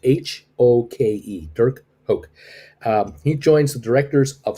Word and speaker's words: Hoke: uh i think the last name is called pronounced hulk h-o-k-e dirk hoke he joins the directors of spire and he